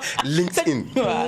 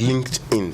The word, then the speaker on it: LinkedIn: LinkedIn. C'est L-I-N-K. Donc, link comme to link. Et D, donc tout est collé I-N. Donc LinkedIn.